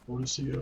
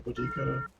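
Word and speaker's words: Boudicca: For those that don't know, Bodicea, Bodica, depending on how you pronounce it, her name, is a heroine from the Dark Ages, as were Ireland and Scotland, where she attacked the Romans.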